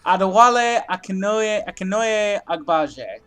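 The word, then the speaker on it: Adewale Akinnuoye-Agbaje: He wrote it down phonetically. I did. Adewale Akinoye Agbaje.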